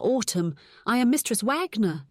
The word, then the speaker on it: Wagner: I am Mistress Wagner," she said, pronouncing her W's like a V.